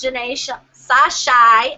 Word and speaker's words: Jeané Sashi: Well, I'm glad you got in, and as everybody knows, this is Janae Sashai.